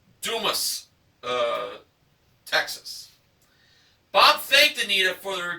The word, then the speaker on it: Dumas: And the cap said, "I'm a ding-dong daddy from Dumas, Texas," but it's pronounced Dumas, Texas.